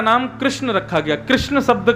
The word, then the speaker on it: कृष्ण: इनिम कृष्ण ताम गत लोग कृष्ण शब्द का उच्चारण सही नहीं करते कई लोग कहते हैं किशन भगवान कई लोग कहते हैं कृष्णा भगवान कई लोग कुछ कहते हैं कई लोग कुछ कहते हैं लेकिन जिनके मन बुद्धि सब एकाग्र है वही कृष्ण शब्द का उच्चारण शुद्ध कर पाते भगवान का नाम